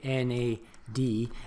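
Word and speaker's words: NADH: adenine die nucleotide so that's why you know because it's a mouthful that's why we prefer to say na dhih and instead of pronouncing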